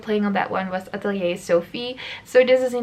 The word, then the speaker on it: atelier: I know you Americans say Atelier, but that goes so against everything I've learned. I'm Dutch and we borrow this word from the French, so we say Atelier.